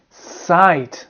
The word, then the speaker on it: sight: Now you have the I sound. I and the GH is silent once again. Silent. For example, light, night, bright, fight, flight, delight, high, thigh, sigh, sight. I hope you have a good sight. Sight.